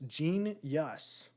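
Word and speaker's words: Jeen-Yuhs: Genius. It's it's spelled phonetically. So JEEN -YUHS. So just genius.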